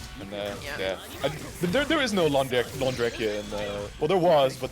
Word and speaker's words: Londrekia: It's Londrekia? Londrekia. Okay, Londrekia.